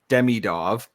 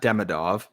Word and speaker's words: Demidov: one way you have Ivan demidov not demidov I will get this